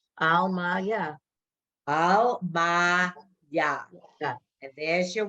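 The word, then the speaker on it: עלמיא: Al, ma, ya.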